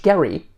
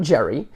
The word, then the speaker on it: Gerry: 1812 the Massachusetts governor Elbridge Gary not Jerry a democratic Republican approved